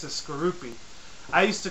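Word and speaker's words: Skorupi: Coming in at number 6 is Skroupi. I used to call it my personal preferences and my pronunciation of it. It's called Skorkapi, not Skroupi.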